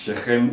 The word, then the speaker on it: Shechem: Well, it's actually Shekem or Shekem, but if you pronounce it in English, but the real pronunciation is Shechem ur Shechem.